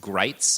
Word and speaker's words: Gritz: writing about him that his name rhymes with sights as in rifle sights or bites which I think was